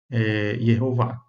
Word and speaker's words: Yehová: Dando aí a pronúncia Yehová.